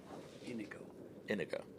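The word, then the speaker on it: Iñigo: Inigo. Yeah. Accent on the first syllable.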